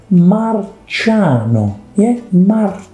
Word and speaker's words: Marciano: was an alien because he was wrong but marciano yes last but not least we close with the